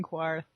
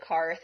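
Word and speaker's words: Qarth: people to stop saying Quarth? Like, maybe? Because there's no U in it. It's like Q-A. So. Oh, I thought that it was spelled like Quarth, but, since they pronounced it Karth, I was like, why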